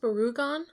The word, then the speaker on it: Barugon: you have gamra versus barugon which is the second gam movie is it pronounced barugon I emphasize the U because there's a Godzilla monster that name is almost exactly the same Oh I thought we